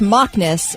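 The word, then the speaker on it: Macnas: center okay all right it's pronounced mockus and it's Irish for frolicking oh you're going to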